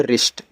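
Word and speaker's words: wrist: यहां भी डब्ल्यू के बाद आर है। डब्ल्यू साइलेंट है। आपका यहां हो जाएगा यहां पे रिस्ट।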